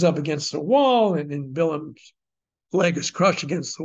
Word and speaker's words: Balaam: By the way, it's spelled B-A-L-A-A-M, so you mostly hear it read by people who don't know Hebrew, Balaam, but Bilam is the correct Hebrew.